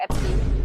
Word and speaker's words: Epstein: Do you pronounce it Epstein or Epstein?